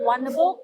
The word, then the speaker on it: Wonderbuuk: Just type on Wonderbook, so WONDRBUUK. So the difference of book is BUUK book. So it's a significant meaning from Bahasa Kedaton. So it represents book. Okay, so we pronounce a book.